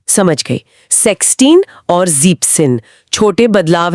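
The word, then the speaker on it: sechzehn: तो यह बन जाता है जैक्सिन। अच्छा एस ड्रॉप हो गया। जैक्सिन मेक सेंस बोलने में ज्यादा स्मूद है।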